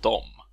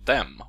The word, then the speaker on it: dem: Adam heter jag, och den här filmen kommer handla om orden di och dom, eller de och dem om ni föredrar det uttalet.